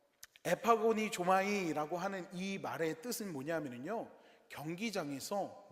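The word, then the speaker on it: ἐπαγωνίζομαι: 헬라어로 에파콘이 조마니 조마이라고 이야기를 합니다. 이거 발음 연습했는데 또 틀렸네요. 열심히 연습했는데 여러분 어 에파고니 조마이라고 하는이 말의 뜻은 뭐냐면은요.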